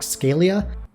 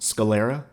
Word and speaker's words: sclera: personally i love black scalia hey future editing lamore here it's pronounced sclera and i also mess up every other placement of the parts of the eye my bad scaly is